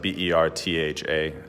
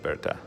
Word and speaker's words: Bertha: and Berta is like BER tha I think if you're American you'd read it as like Bertha but the pronunciation and in Denmark is Berta the Venkman she's really